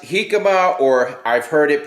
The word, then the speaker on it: jícama: and I asked them was the correct correct pronunciation and and they said he come up with an H all right so I just